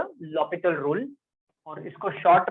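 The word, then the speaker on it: L'Hôpital: Sometimes generally when I pronounce I called it this read it this as L'Hopital rule. कुछ word जिसमें से silent है, तो we read this as L'Hopital rule.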